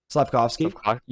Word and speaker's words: Slavkovsky: Slavkovsky. Slavkovsky.